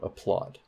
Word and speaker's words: applaud: primary stresses on em what about applaud applaud applaud applaud which sounds better a plot so that plot has primary stress okay so that is